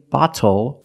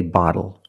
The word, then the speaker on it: bottle: When you see T-L-E or T-T-L-E, phonetically the T is between vowels. And for this reason, the T changes to a fast D in American pronunciation. That's why we do not say little, we say little. And we do not say bottle, we say bottle.